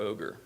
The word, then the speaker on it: OGR: There are also different ways to pronounce it. I use GeCo, as noted, and OGR for whatever reason. Other people call it Goodle or Ogre.